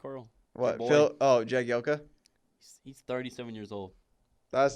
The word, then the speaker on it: Jagielka: Phil Jalek, how do you say it, Coral? What? boy. Phil? Oh, Jagielka?